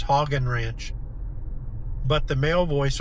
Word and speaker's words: Hagen: which that's how we pronounce it, Heagen Ranch Road. And um the the female voice on Google says Hogan Ranch, but the male voice on Google says Heagen Ranch.